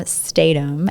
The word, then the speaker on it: Stadum: Tom gave me of how to remember how to pronounce his last name. You were saying that in your college graduation? Yes, college graduation. Okay, so you were in your college graduation and you phonetically spelled your name and you wrote Stay, S-T-A-Y, and then D-U-M-B.